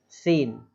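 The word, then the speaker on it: scene: Next है हमारा सीन, SC, लिखते इसी तरीके से हैं बट इसको लोग बाग बोलते कैसे हैं, सीन, है ना, दृश्य जो होते हैं। एस के बाद सी आ रहा है इसलिए साइलेंट हो गया उसमें भी।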